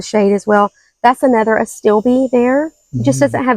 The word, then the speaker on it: Astilbe: Let's see this one here, Visions in White, Chinese Astable. I think they pronounce it Astilbe. Astilbe. That sounds more phonetically correct.